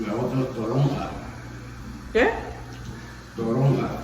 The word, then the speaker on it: toronja: Y la otra es toronja. Yeah? Toronja. Toronga. I never heard that. Toronga. Toronja. How do you spell it?